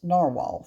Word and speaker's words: Nahvalur: and my other pens as Narwhal from this point out, since Narwhal tells us that that is how their brand name is supposed to be pronounced.